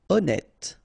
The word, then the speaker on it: honnête: Honnête. So remember, H doesn't exist.